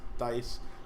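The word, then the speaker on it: Theis: That's how you say his name. Yes, Dice.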